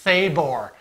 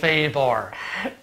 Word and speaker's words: Sabor: I believe it's pronounced Sabor. And it's Spanish, okay?